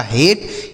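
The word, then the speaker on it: hate: यह लिखा हेट। हेट का मतलब होता है नफरत। क्या होता है? नफरत। ठीक है बच्चों? यह इ जो है लिखा जाएगा लेकिन पढ़ा नहीं जाएगा। इसका उच्चारण हम नहीं करेंगे।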